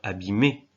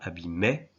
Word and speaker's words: abîmer: Il y a d'autres formes conjuguées comme abîmer, on dit bien abîmer. On ne dit pas abîmait, ni abîmer.